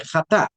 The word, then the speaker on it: jatá: Pero no se dice chatá, se dice jatá. Eh, resulta que en ese ch a veces en la lengua alemana o en el inglés eh se pronuncia como una J, ¿no?